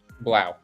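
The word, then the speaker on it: 3LAU: Threelau or Blau? Is it Blau? Blau. It is Blau.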